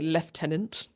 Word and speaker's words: lieutenant: meet another famous B uh lieutenant or as the British say leftenant Archie Hickock played by